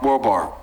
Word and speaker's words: Wahlberg: Louisiana, I believe, 50 Cent and Mark Wahlberg.